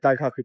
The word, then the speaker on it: Daikoku: Daikoku PA, as I learned to pronounce it today.